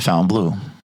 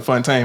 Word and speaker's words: Fontainebleau: We go down there, we get a room at the Fontainebleau. That's where Floyd normally stays when he's there, right? So that's actually how you pronounce it. I've been calling it Fontaine my whole life.